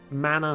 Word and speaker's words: mana: Scourge the fact that Mana SL Mana can be pronounced in two different ways and it just switches depending on which series is using the term is going to trip